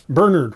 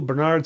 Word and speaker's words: Bernard: much like the pronounce Bernard wrong again going with the second syllable Bernard it's Bernard Montgomery I know with the second syllable Bernard sounds fancy that way but it's just Bernard back in England as Mr suckling now